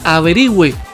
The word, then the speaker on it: averigüe: La función de la diéresis es recordar que se pronuncia la U.